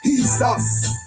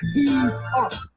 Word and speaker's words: Yeshua: Jesus is pronounced as Yeshua. Yeshua.